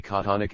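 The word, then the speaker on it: chthonic: surface of the Earth the pronunciation of the word thonic in the Oxford English Dictionary is precisely konic and may have also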